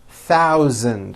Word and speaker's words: thousand: stars in this paragraph be aware of my pronunciation of numbers especially the th and the voiced z sound Z in the word thousand thousand okay here we go